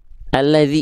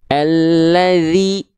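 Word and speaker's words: الذي: RRB artinya rendahkan rahang bawah. Ya, ATL artinya angkat tengah lidah, bukan alat tulis, bukan ya.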